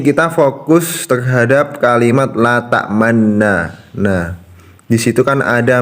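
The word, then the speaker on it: تأمنا: Nah, pada saat kita membaca la ta'manna, kita saat membaca nun yang pertama kita memonyongkan bibir kita, lalu setelah menariknya kembali pada saat membaca nun yang kedua dan lalu melafalkan nun yang kedua.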